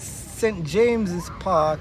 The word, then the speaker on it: St James's Park: that out right right St James Park uh pronounced at St James's Park is the most Central of the Royal Park